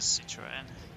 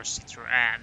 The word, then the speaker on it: Citroën: So we got two Audis, one Toyota, that's mine, MR2, and then a Citroen, or Citroën as it's pronounced.